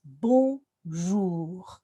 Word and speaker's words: bonjour: the chimpanzee sound ooh we'd blend those full sounds and then we finish with the garlic sound and it's bon jour bon and we get all the children to say it like that and i guarantee you'll never